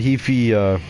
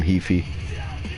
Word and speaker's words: Heafy: But apparently Matt Heafy, or Matt Heafy. Gotta get used to that. It's actually Heafy, not Heafy.